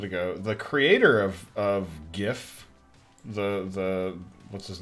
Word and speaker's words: GIF: now according to this it's pronounced with a hard g like gift however it says i saw it a minute ago the creator of of gif the the what's his